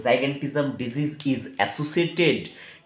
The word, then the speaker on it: gigantism: ठीक है, जाइगेंटिज्म ऐसे भी कोई कोई लोग प्रोनाउंस करते हैं या कोई लोग गिगेंटिज्म ऐसे भी प्रोनाउंस करते हैं। तो जाइगेंटिज्म बोलना मोस्ट सुइटेबल रहेगा क्योंकि जाइंट, जाइगेंटिज्म कहाँ से आया? जाइंट, जाइंट से आया।